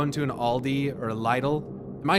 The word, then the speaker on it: Lidl: Little's more like you say little, the way you say it.